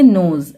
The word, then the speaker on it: nose: और जो लास्ट में ई है वो साइलेंट रहेगा, तो इसे हम क्या पढ़ेंगे? नोज, NOSE, नोज, ठीक है।